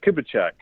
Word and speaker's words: Kubicek: that you're into today the real pronunciation is kubacheck jeremy kubacheck I used to write